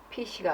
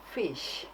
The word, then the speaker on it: fish: 그 다음 피쉬가 아니라 fish 이렇게 이제 해주셔야 됩니다.